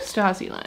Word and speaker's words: Stasiland: How did you say this is pronounced? Stasiland? Stasiland.